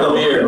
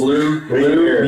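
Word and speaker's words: Lumière: You didn't get it right. Lumiere. He was like, I didn't get it right. I know I didn't get it right. It's 3 syllables. 3 syllables, Lumiere.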